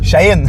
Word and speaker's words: Shaheen: Comment tu le prononces? Shaheen. Shaheen, excuse-moi. Shaheen.